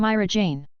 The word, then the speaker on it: Mirajane: I'm Mirajane. Rhodes hesitated for a moment before mimicking her pronunciation.